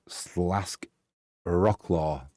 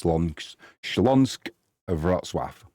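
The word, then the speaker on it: Śląsk Wrocław: on Schlongans Votswaf or if you're in England, Slask Rockclaw, but the Polish pronunciation is Schlong Schlansonsk Votswaf. They're doing well in the league currently.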